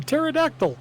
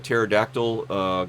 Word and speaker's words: pterodactyl: Hey, you know why that you guys don't hear a pterodactyl go to the bathroom? Yeah, the P is silent.